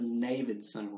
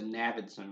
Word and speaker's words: Navidson: a film entitled The Navidson Record, or The Navidson Record. You think it's Navidson, but I think it's actually pronounced Navidson.